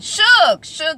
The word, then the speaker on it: Suge: She's like, it's Suge. I'm like, why is it spelled S-U-G-E? That looks like Suge.